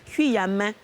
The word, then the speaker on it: Kuame: Tu dis que c'est Kuyame. Kuyame.